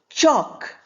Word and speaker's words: chalk: Then we have chalk. We don't say chalk.